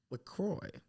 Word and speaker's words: LaCroix: Yeah, this is wasn't this even episode brought to you by LaCroix.